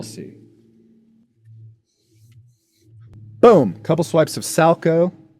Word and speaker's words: Salchow: Boom, couple swipes of Salco. I know it looks like Salchow, but it's pronounced Salco.